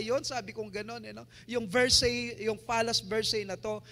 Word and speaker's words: Versailles: itong palasyo na to, pag binasa nyo, Versailles, pero pag sila ang nagpo-pronounce nito is Versailles, Versailles, ganun po sila magsasalita ng lugar na to.